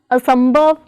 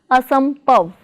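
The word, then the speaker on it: ਅਸੰਭਵ: Prefix a plus stem sambhav is pronounced as asambhav, not as asampav.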